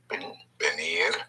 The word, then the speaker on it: venir: We have to come, which is venir. Venir. Venir. V-E-N-I-R. Venir. Again, the V and B have the same sound. Pronounce with your lips, venir.